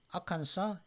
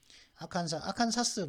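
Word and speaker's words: Arkansas: 아칸사, 일리노이, 캔사스는 S, 그죠? 매사추, 텍사스. S로 끝나는 주는 지금 5개 주가 있거든요. 아칸사스 부르는 아니 아칸사라고 하거든요. 그다음 일리노이스가 아니라 일리노이까지만 발음하면 되는데 이건 아칸사죠.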